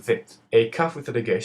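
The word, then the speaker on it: ב: A bet with a dagesh sounds like I taught you, bet, and the bet without a dagesh is pronounced with a V sound and is called vet.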